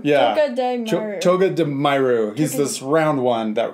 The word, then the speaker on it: Togedemaru: Togedemaru. Yeah. Togedemaru.